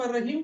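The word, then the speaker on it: الرحيم: वो क्यों पढ़ते हैं हम अर रहीम? क्योंकि लाम साइलेंट हो जाता है।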